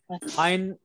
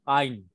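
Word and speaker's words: עין: Ein is a silent letter.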